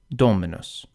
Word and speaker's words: Dominus: followed by two consonant for these words the accent falls on the anti- penal because the penal is short Dominus the second to last syllable m is short F the K is